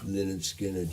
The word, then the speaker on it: Lynyrd Skynyrd: Okay, well, this is, I always get the pronunciation wrong, but Leonard Skinner. Lynyrd Skynyrd, yeah. Lynyrd Skynyrd, yeah.